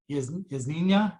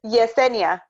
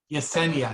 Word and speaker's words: Yesenia: Yasnina? Yasnina. Is that how you pronounce that? Okay, good. Hope I got a chat. Here's a question. Yes, it's Professor, it's Yesenia. Yesenia, excuse Yeah.